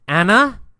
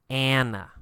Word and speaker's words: Anna: Or in America, we say Anna. Anna. A little bit different pronunciation. So Anna was the woman's name.